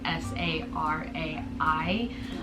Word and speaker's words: Sarai: And then for Sarai, we decided to do, and that's spelled S-A-R-A-I, so in English it's like Sarai.